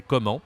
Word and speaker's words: comment: We say comment. We don't say the T. And the difficult part is to say this again. This is again a nasal. And we say en. Okay, we saw with bonjour, this is on. And here this is en.